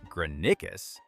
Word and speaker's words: Granicus: After Granicus, pronounced Granicus, the invasion is already starting to look dangerous for Persia.